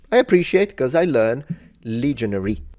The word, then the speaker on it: legionary: appreciate cuz I learn legionary not legionaire it's a there's a difference in English these are legionaries would